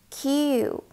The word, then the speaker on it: 九: 九、九、九。 Be careful of the long vowel, u.